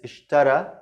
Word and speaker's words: اشترى: Is the ya here, you will tell me, okay, this is ya, and you pronounce it like alif. اشترى. Okay, this is a rule in Arabic. Some words ending with ya, it's pronounced like alif.